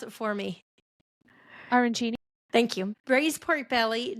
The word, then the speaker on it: arancini: Kat, pronounce it for me. Arancini.